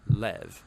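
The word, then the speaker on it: לב: word in this prayer heart which in hebrew is sometimes pronounced lev or more often in a shorter form lev now different cultures throughout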